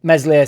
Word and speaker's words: Meslier: and slide in um meslier silent s ultimately soft for the